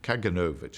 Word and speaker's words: Kaganovich: a character called Lazar kaganovich or kaganovich we're we're trying to decide every it changes every day but kaganovich I think is the correct pronunciation uh who was um